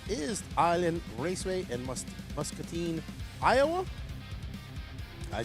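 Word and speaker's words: Muscatine: Up next for the INS is Island Raceway in Mus Musketine, Iowa.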